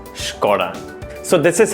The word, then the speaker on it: Skoda: So remember, it's not Skoda, it's Skoda.